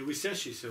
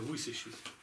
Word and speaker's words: высящийся: Слово высящийся, не высящийся, а высящийся. Правильно, ударение. Высящийся, то есть поднимающийся в небо.